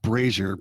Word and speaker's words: brazier: Uh, it's pronounced braier.